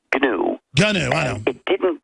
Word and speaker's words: GNU: Stallman, GNU that you invented that grew into Linux, all these other systems. Well, actually, no. It's pronounced GNU.